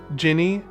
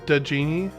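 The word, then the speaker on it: Djinni: So, I wonder if it's because I've been uh It's weird because it's supposed to be pronounced like Jinny, but for some reason Camelot pronounced it denini.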